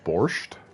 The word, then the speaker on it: borscht: It's actually pronounced borscht.